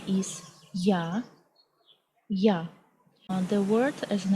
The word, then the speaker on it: я: The next letter is Ya, Ya.